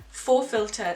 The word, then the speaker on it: FauxFilter: a look um no so the huda beauty full filter skin finish buildable coverage foundation stick that's how